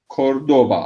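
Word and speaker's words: Córdoba: Bunu Müslümanlar bu kaf harfi daha fazla kullanıp Kurtuba'ya dönmüştür, ama şehrin adı, efendime söyleyeyim, Cordoba asıl ismi.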